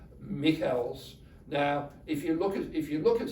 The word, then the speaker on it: Michels: Robert, first name Robert, because he's German, but spelled the same as Robert. Michels.